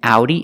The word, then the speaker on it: Audi: In Audi, it makes a sound ow.